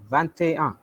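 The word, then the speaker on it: vingt et un: But in 21, I'm pronouncing GT also because of that vowel E.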